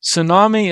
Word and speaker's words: tsunami: toi to to T tsunami the tea is silent tsunami of and and crush